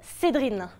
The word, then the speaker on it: Cédrine: Vous l'avez entendu, je m'appelle Cédrine. C'est pas une blague. Cédrine, ça s'écrit C-E-D-R-I-N-E.